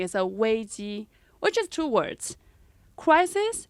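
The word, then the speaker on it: 危机: chinese we have this word called um crisis pronunciation is a way g which is two words crisis and danger that's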